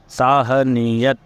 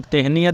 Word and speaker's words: تہنیت: کا لفظ ہے تہنیت۔ ساہنیت، تے ہے نون چھوٹی ہے اور پھر تے، ساہنیت، اسے تہنیت بھی بولتے ہیں، تو صحیح تلفظ اس کا جو ہے وہ ساہنیت ہے۔ اور یہ جو لفظ